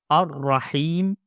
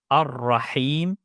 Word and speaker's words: الرحيم: Ar-Raheem make sure to pronounce the ha with a clear sound. Ar-Raheem don't mix it with a ha. Clear throat sound in ha. Ar-Raheem.